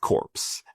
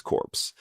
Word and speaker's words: Corps: And that included creating the tech corpse as a new partner initiative of the peace corpse. Sorry, peace corps I should say. I don't know why I'm uh you know ignoring the silent letters.